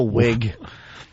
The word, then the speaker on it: Whig: socialist never I'm a wig are you a wig yeah Jimmy's part of the wig party I just like it cuz it's spelled Whig I like that silent h throws everyone qug all right so